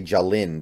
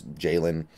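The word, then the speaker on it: Ja'Lynn: pulk or jayen pulk I always have a I have a pull to want to say Jalin because of the way it's spelled but it's Jaylen pulk Washington um I I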